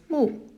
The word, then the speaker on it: 木: And this one would be pronounced as 木.